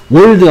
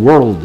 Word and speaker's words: world: 월드 안하고 world 이러죠. 혀를 왜 이렇게 굴리는 거야? R이니까 R 발음 땡기고 L 발음이니까 혀 바꿔 밀고 R은 혀가 혀끝이 목구멍 쪽을 향하고 L은 뭐 윗니 밑으로 혀가 가서 붙고요.